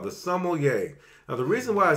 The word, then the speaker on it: sommelier: mispronounce this word saying sommelier. Sem-al-e-yay. That would be incorrect, okay? Now, the proper way to pronounce it is sommelier. So that would be sum, L, and yay.